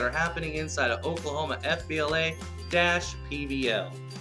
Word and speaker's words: FBLA-PBL: happening inside of Oklahoma FBLA-PBL. And yes, you do pronounce the dash. I don't know why, but them the rules.